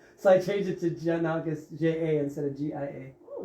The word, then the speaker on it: Giannakis: I was born, and it's pronounced Giannakis like Japan. So in Japan, they would all say Giannakis, and I said, no, it's Giannakis like Japan. They said, why don't you spell like Japan?